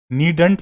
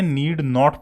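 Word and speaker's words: needn't: इसको दोस्तों पहचानिएगा, नीडंट पढ़ने की जरूरत नहीं है, नीड नॉट पढ़ा जाता है, ठीक है।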